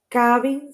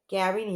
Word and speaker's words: cabin: Now we have cabin ceiling. Well, they are different. Cabin is pronounced with K.